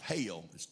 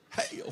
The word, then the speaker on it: hell: That's the way we say in the South, hell. It's a two-syllable word. Hell. Why are we going through all this hell? In the North, it's hell.